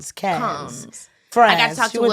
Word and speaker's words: Cannes: And then also we went to Cannes or Canes or however people pronounce it. Cannes.